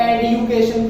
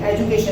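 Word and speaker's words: education: जैसे कुछ लोग आजकल एडुकेशन कहने लगे ना, एडुकेशन, तो ये एडुकेशन कुछ नहीं, एजुकेशन ही है, तो डी द ही बोला जाएगा.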